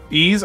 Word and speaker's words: Ys: Ease. Oh, it's called Ease. Okay, Ease. My apologies. I I was mispronouncing that. So, if that was a confusion, there's 11 Ease games.